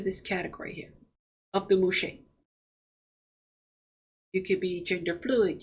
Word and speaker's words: Muxe: Now, the spelling of Muxe is M-U-X-E, but it's pronounced Muxe, which is a derivative of mujer, which means woman in Spanish.